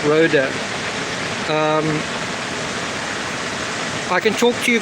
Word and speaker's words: Rohde: Snow lion, it's spelled R-O-H-D-E, Rhoda.